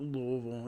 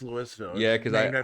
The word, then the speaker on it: Louisville: it's Louisville no it's Louisville no actually when I moved here that was a whole thing you you're supposed to say it like you're shitfaced on Bourbon it's Louisville yeah yeah